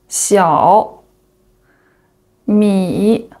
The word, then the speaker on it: Xiaomi: The first one, HUAWEI hua hua wei wei HUAWEI HUAWEI The second one is Xiaomi Xiao Xiao mi mi Xiaomi Xiaomi The third one is DJI